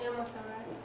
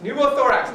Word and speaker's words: pneumothorax: pronounce it very well pumo thorax what was it you said it earlier yeah was pumo thorax pneumothorax okay I was going to say Nomo thorax but yes numo thorax now numo thorax is